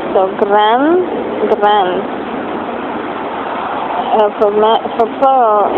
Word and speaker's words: grande: So gran, if you add an E to make feminine, grand, you do pronounce the D.